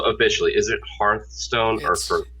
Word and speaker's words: Hearthstone: And the fireplace thing is a hearth, and it's spelled the same way. So Hearthstone.